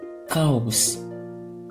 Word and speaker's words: Chaos: Également le CH avant A, O, U, L, R, S se prononce que, comme chaos. Chaos, c'est-à-dire chaos.